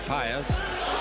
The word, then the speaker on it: Páez: 23 years of age is Páez.